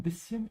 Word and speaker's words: bisschen: Ich muss das nur ein bisschen ändern. I'm going to use this opportunity here to help you pronounce this common verb. Bisschen. You might actually think that you have to cut it here, but this is actually wrong.